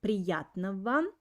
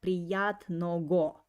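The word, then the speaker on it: приятного: of note that uh the letter g in the word priyat navan i pronounce like ver so i don't pronounce like priyat no go i say priyat nava and uh this phrase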